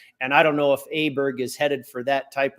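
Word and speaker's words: Åberg: Ludwig Adberg. Close? Yeah, Ludwig Aberg. Aberg. Okay.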